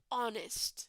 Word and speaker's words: honest: here both right guys both are written with h they both start with h but the pronunciation is consonant in hairdresser and vowel in honest person okay so it doesn't